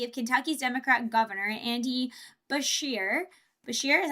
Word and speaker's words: Beshear: more than happy if Kentucky's Democrat governor, Andy Beshear, is how you say it, was able to